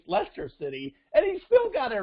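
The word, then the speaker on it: Leicester City: second division soccer league i don't even know how to pronounce the team's name lycaster city of the premier league it's lester city and he's still got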